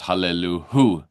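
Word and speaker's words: הללוהו: The first line is Hallelu el Birkot, but then every line after is Hallelu hu. There's an extra syllable there. Can't forget that extra hu.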